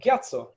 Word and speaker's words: Gyatso: also for tibetans to say lobson yeah to pronounce that ba and say lobson similarly with a gyatso if you have a very pure lasake then